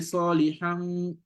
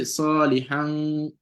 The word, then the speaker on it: صالحا: You don't say salihan, salihan. You see that? We call it izhar in tajweed. So you're gonna convert this nun tanween, pronounce it like a nun.